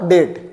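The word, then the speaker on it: debt: यदि बी के बाद टी हो। बी के बाद टी आता है दो। बी साइलेंट रहता है।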